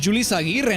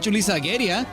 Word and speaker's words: Julissa Aguirre: Holy shit, I know nothing about this game, but I know her name's Julissa Aguirre, not Julissa Aguirre.